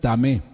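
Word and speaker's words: טמא: Otro término es tamé.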